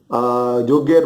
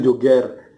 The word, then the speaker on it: Joger: gitu kan jadi m bacanya ini Joger bukan Jogger ya guys ingat bacanya itu Joger julukan terus joget sendiri